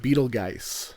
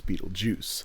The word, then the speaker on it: Beetlejuice: it's spelled g u e and she keeps pronouncing it Beetle Geist yeah and so that's why they don't summon